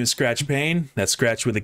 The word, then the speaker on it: Payne: My name is Skratch Payne. That's Skratch with a K, Payne with a silent E at the end.